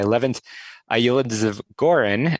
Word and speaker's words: Levent Yildizgoren: about but i'm thrilled to be joined by eleventh aioli gorin and i hope i pronounced that correctly but uh levin thank you